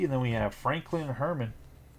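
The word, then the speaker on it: Germán: then we have Franklin Herman German German I believe his name's like a soft G like the Herman for the white socks and that's going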